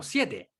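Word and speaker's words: seven: Pero ya, el número 7, la primera E se pronuncia con los labios estirados. La segunda E se pronuncia con los labios relajados. Entonces yo digo 7. 7. Y los dos son E y se pronuncian distintas.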